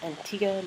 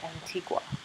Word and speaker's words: Antigua: October 6 2016 and I am broadcasting live from um five Islands in Antiga and you pronounce it was Antiga not Antigua just so you know and